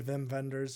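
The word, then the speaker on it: Wim Wenders: called him whim Wenders not knowing that he was German so those W's are V's so sorry Vim vendors if you are watching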